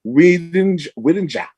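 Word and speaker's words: Oued N'Ja: This unit's final destination was in the middle of a little town of Ouedja, pronounced Ouedja. It's spelled O-U-E-D, capital N, apostrophe J-A.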